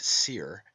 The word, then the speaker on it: soir: Therefore we have the heavenly wolf Osiris, meaning the high eastern sun, from os, high, and soir, pronounced seer, and meaning east, hence the morning sun.